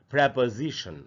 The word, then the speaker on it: preposition: इसको भी हम लोग अक्सर प्रीपोजिशन पढ़ लेते हैं। इसका करेक्ट प्रोनाउंसिएशन है प्रेपोजिशन। अगर आप देखें जो ट्रांसक्रिप्शन के सामने जो हिंदी में लिखा है प्रोनाउंसिएशन, तो यहाँ प्रे के बाद प है, प के बाद आधा अ है, यानी प पर थोड़ा सा रुकना है हमको, और उसके बाद जी और शन, तो इसको पढ़ेंगे प्रेपोजिशन, इस तरीके से पढ़ेंगे।